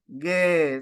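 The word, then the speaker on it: γῆ: of the world no gay so no so but this is ETA so you pronounce it as gay no no like like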